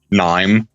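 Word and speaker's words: KNIME: It's pronounced nine though.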